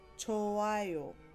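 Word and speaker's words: 좋아요: The letter hiet is not necessarily silent when it's followed by a consonant, but when it's conjugated, it becomes silent. So for example, you have chota, manta. When these words are conjugated, they turn into chowayo, chowayo, manayo, manayo.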